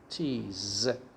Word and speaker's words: cheese: cheese first of all e at the end is not pronounced so say cheese okay the second one remember s is pronounced as z here so it's like this cheese the next one according